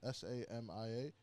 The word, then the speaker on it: Samia: I think it's pronounced Samya. S A M I A. Samia.